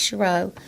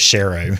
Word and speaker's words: Shiro: I'm glad you said your last name because I've been pronouncing it wrong. That's okay. I've been think I've been thinking it was Sher. Well, a lot of people say that, too. Either one.